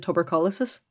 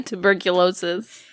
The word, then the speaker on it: tuberculosis: history teacher in secondary school who used to pronounce it tubercolosis and every time I read tuberculosis that's all